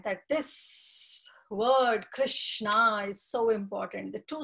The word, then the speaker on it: Krishna: So Krishi, the Krish word, the Krishna actually, it's a bhu vachako. It's a two syllable word, Krish and Na.